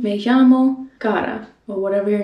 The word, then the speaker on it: Cara: For example, I usually say me llamo Cara instead of Cara, because Cara is already a word in Spanish, so the pronunciation is more like the Spanish pronunciation.